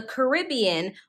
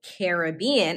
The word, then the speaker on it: Caribbean: Also in the Americas is the Caribbean, or the Caribbean, as some people pronounce it.